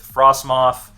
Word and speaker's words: Frostmoth: The way we get energy onto the board is with Frostmoth, yep, that's how you say it, Ice Dance.